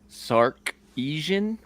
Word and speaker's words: Sarkisian: Steve Sarkisian. Is that how that's pronounced?